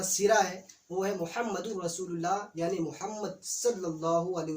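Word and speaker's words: رسولُ اللہ: صلی اللہ علیہ وسلم۔ بہت سارے لوگ رسول اللہ کہتے ہیں، جو کہ درست نہیں ہے، ان کریکٹ ہے۔ درست تلفظ کیا ہے؟ رسول اللہ، لام پر پیش کے ساتھ۔ تو اس کا ترجمہ کیا ہوگا؟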